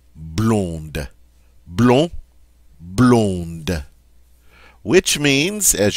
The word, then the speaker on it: blonde: The feminine form, however, is going to sound different because I'm going to get to pronounce that D now. Blonde.